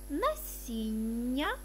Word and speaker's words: насіння: Дві однакові літери вимовляй подовжено. Зілля, насіння, галуздя.